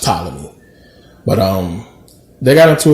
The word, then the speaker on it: Ptolemy: say patella is just a thing but it's pronounced ptolemy but um they got into a war and